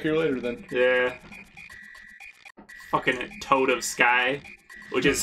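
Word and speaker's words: Toadofsky: Fucking Toad of Sky. Which is how you pronounce his name.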